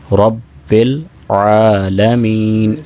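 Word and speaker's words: رب العالمين: है खड़ी जबर है रब्बिल आलमीन यहां पर अक्सर बा आन की आवाज सही नहीं निकाल पाते वह हमजा से बदल देते हैं इसको तो ऐसा नहीं करना चाहिए रबल आलमीन आगे अरमान ही यहां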